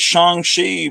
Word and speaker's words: Shang-Chi: Pronounced Shang-Chi, and I heard Kevin Feige pronouncing it Shang-Chi, so I figure it's Shang-Chi, but I don't know.